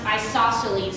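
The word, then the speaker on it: isosceles: lot of people have trouble pronouncing so it's pronounced isoceles y'all say it with Mees yeah okay so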